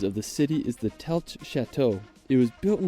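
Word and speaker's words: Telč: Now afterwards, we're going to visit the town of Telch. Now located about 2 hours drive from Prague. I was about to pronounce it Telch.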